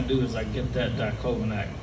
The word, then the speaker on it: diclofenac: Only took me about 4 fucking years to figure out how to pronounce it. I'm like, what's that? That's something? Clavicle? What is that? So it's diclofenac.